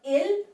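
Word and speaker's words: ils: plural then we have ill I'm over here writing i l s but we do not pronounce letter s so that's why the pronunciation is ill means they for masculine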